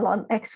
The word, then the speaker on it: ln: Nah, berarti ini kita misalkan U-nya adalah ln X. Ngomong-ngomong ini huruf L ya guys, bukan I. Jadi bacanya ln X bukan IN.